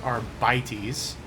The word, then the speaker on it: Arbites: Exactant Solomon Anthar of the Adeptist Arbites. State your name and the purpose of your stay on Racetamon. Well, first of all, you're clearly a heretic because it's pronounced arbities.